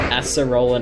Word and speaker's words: Acerola: Well, we're going up to Acerola now.